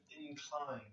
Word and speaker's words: incline: Now the noun is incline, okay. Here the stress is different, okay. So it's not so much about where the letters are and the syllables. Here it's about the stress, okay.